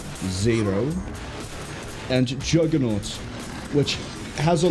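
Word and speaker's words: Zaero: Those being Zero, and the reason I pronounce it so weird is it's not Zero. It is Z-A-E-R-O, Zero, and Juggernaut, which has a longer title, but Juggernaut is what it gets called.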